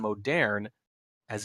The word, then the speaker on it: Moderne: to our arturiax on Modern as Duke. Modern arturiax. Hey, the E is there for a reason, my friend. I insist we pronounce it, or at least I'm going to continue to do so.